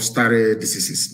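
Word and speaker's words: stare decisis: It is called star diseases. It mean I will spell it for you.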